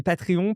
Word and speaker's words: Patreon: Et je vais prononcer Patreon parce que je le fais bien à la française maintenant.